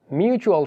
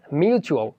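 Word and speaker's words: mutual: TUAL এর সাউন্ডটা হচ্ছে চুয়াল, কিন্তু আমরা অনেকে টুয়াল বলে। সো টুয়াল উচ্চারণটা না করে এখন থেকে চুয়াল পড়বেন। যেমন ফেসবুকে আমরা অনেক সময় দেখে থাকি মিউচুয়াল ফ্রেন্ড, অর্থাৎ মিউচুয়াল।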